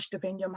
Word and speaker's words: Stipendium: So it's called Stipendium Hungaricum. South Africans would say stipendium, but S here and pronounce it a weird way.